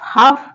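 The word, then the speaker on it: half: next word है हाफ हाफ में जो ए है वो एक वाउल है और जो एल है वो यहां पे साइलेंट है हाफ जैसे वर्ड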